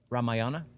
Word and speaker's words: रामायण: द एक date of Ram Yana how you pronounce रामायण रामायण रामायण रामायण okay रामायण what ever what